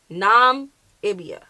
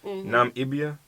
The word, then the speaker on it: Namibia: Namibia.